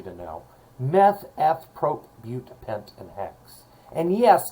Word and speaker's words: bute: And then 4 carbons is bute, not but, it's pronounced bute.